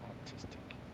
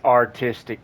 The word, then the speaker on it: artistic: You know me, I like this autistic. Did I say it wrong? I guess I said it wrong. That's what I was thinking. Autistic? It's artistic, James.